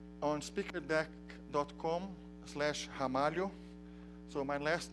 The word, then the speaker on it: Ramalho: can see online on speaker deck comm slash hamari oh so my last name you pronounce as if it started with an age